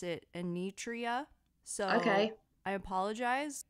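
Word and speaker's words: Enietra: survivor of last week's episode I kept saying yeah and rieta but in the documentary they pronounce it a nutria so okay I apologize a nutria is the correct way I believe as someone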